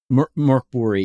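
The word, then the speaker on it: Mörk Borg: So I folded in Morborg. Yeah. That's where you use the Doom Clock and stuff. Morbbori. Yeah. Or Yeah. To use the proper pronunciation.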